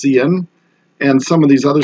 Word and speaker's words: cin: that's pronounced C out this thing that says CIN CIN that's usually pronounced CN and some of these